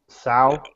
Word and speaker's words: Tso: And that's how you pronounce it, right? Sal. That's the right way, but there's all kinds of ways to say it.